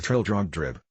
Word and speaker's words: Trildrogdrib: It contained a warrant for conducting me and my retinue to Trildragdub, or Trildrogdrib, for it is pronounced both ways as near as I can remember, by a party of 10 horse.